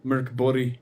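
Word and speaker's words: Mörk Borg: love buried i did morkeborg or merc bori if you want to pronounce it correctly which i don't know don't bother mork borg it sounds great um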